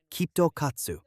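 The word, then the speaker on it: きっと勝つ: Japanese students have a tradition of carrying KitKat chocolates when they take an exam because it is pronounced kto katsu, which in Japanese means guaranteed victory.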